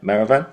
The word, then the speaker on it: Maravan: new actor center recently and that is Maravan. Is that right? Maravan.